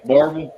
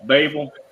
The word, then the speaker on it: Barberville: Um, and then Barville is Barberville. They leave out four letters when they pronounce it. And um, uh, but yeah. Anyway, Barvel. Babel. That's how they pronounce it over there.